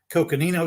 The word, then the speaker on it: Coconino: and when we look at um the correct pronunciation by the way of that sandstone in the canyon is the Coconino Sandstone near the top when you look at